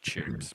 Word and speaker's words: CHiPs: oh it's like slay for California Patrol it's pronounced chips but it doesn't actually have an IRS want